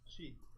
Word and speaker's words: Mochy: Chi. Chi. With a CH, just like it's spelled Mochy. I understand. There might be 1 or 2 words that are I mean, pronounced 16 either way. to 10. Mochi, noted.